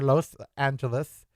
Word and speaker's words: Los Angeles: The word is Los, like Los Lobos. It is Los Angeles or Los Angeles. It is not Los. It is not laws. It's Los, like toast. Los. Los. Los Angeles.